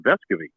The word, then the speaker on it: Vescovi: team over the summer then they started calling him vescovi and uh and he and he said yeah that's how our families already always pronounce this but he didn't really